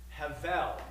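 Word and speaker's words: הבל: Vanity the word is the B is pronounced like a v in Hebrew Havel and it's related to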